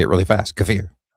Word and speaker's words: Kiefer: Accent on second syllable.